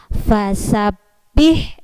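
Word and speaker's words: فَسَبِّحْ: ini namanya tanda tasydid Kalau ada tes tanda tasydid berarti cara membacanya adalah ditekan seperti ini fasop behna ditekan sebentar tidak boleh dilepaskan dulu fast sabpih fast sabpih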